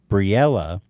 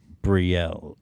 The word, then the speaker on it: Brielle: And by the way, Briella, who, thank you for writing us in. I think it's just Brielle. Brielle. Pronounced Briella? Because she's got an E at the end.